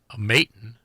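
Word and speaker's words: Maton: plays uh his guitars maon I think that's how it's pronounced m a t o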